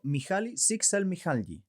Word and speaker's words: Mihaly Csikszentmihalyi: Nuestro amigo Mihaly Csikszentmihalyi. Bien pronunciado.